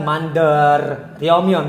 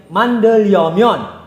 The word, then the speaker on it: 만들려면: Dan juga untuk pelafalan seperti 만들려면, jika bacim real bertemu dengan real, ini sebenarnya menjadi L dua-duanya, bukan 만들려면, bukan. Menjadi 만들려면.